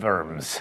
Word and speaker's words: Worms: Emperor Charles V at the imperial diet of Worms, or in German, Worms. Also, let me say retroactively, now that everyone has commented on my poor German pronunciation, Wittenberg.